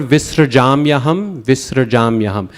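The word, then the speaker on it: विसृजाम्यहम्: That last word, visrajam yaham, that one can stumble a lot of people. It's visrajam. That SR, very short, quick, visrajam yaham.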